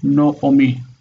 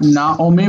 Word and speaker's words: Naomi: in Israel as No, Noomi, because that's the rule that this affects that. So it's not Naomi, but Noomi.